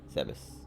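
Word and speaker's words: Zebes: Japanese kana is written as Zebus. Okay, Zebus. I'll pronounce it right from now on.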